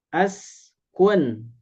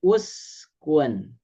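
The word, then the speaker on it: اُسْكُنْ: Contoh misalkan ini askun. Nah, al lamnya tidak ada. Maka samakan bunyinya, harakatnya dengan huruf yang ketiga. Huruf yang ketiga adalah alif sin kaf berarti kaf. Nah, ini samakan berarti jadi uskun ini menjadi ud khulu.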